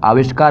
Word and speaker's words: आविष्कार: और ध्यान रखिएगा आप आविष्कार मत बोलिएगा, आविष्कार होता है, क्योंकि आपका वर्तनी में